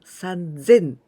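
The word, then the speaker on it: さんぜん: three well three thousand this was the irregular one sanzin with tinting and also 300 it was the irregular sound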